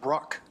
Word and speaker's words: Breaux: I had a next-door neighbor that spelled his last name the same way as he pronounced Wow. it Bruck. Well, that's the correct pronunciation. For some reason, my lineage have been pronouncing it Brew for 2 generations.